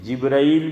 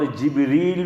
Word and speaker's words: جبرائیل: طرح بول سکتے ہیں، جبرائیل بھی صحیح ہے اور جبریل بھی صحیح ہے۔ جبرائیل یہ ہم عام طور پہ بولتے ہیں، لیکن جبریل یہ بھی بول سکتے ہیں، اس طرح بھی اس کا تلفظ صحیح ہے۔ دلیل قرآن کریم کے